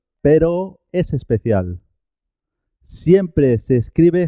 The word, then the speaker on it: pero: Cuando la R está al comienzo de la palabra, se escribe simple, se escribe una sola R, pero suena doble, suena doble.